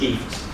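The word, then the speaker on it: IFTTT: IFT, and they say, pronounce it like gift without a G. It sounds like one of those American things. Okay, so basically is IFT.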